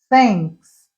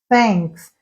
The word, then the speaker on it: thanks: Porque aquele TH não existe em português. Então, eu tenho que aprender que o som é thanks, thanks.